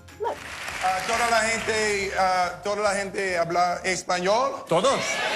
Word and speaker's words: español: Say, estoy estudiando español, rather than español. I know, even Will Smith mispronounces the name of the language. Look. Toda la gente habla español. Todos. So remember, it's español rather than español.